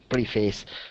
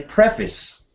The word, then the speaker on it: preface: well I think we when it's a noun you say preface preface the preface yes because preface would sound like some kind of verb you know it's a normal